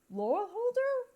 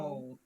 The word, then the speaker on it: Lorehold: of the school of Laurel Holder, if I pronounce that right. Lorehold. Pardon? Lord. Oh. Lorehold. Oh, Lorehold. Okay, so I was slightly off.